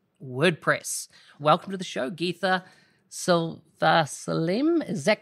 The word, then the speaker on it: Geetha: is svaghub dot wordpress welcome to the show geetha silva slim is that correct i heard you pronounced it right how would you say it how would you introduce your name um gita excellent sounds much better when you say it